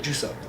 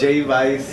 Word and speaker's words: Jvice: So, what I did, I substituted the U's with V's. So legally, it's spelled a totally different word. So it's really. It's really Juice Up. J Vice.